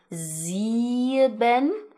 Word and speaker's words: sieben: We have the number 'sieben' (7). So you hear that 'E' right there.